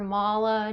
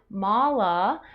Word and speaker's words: mala: And with the word mala, the A's are long. So if you say mala, it means something totally different than mala.